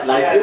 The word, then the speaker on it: Liefeld: Pronouncing his name right? Liefeld?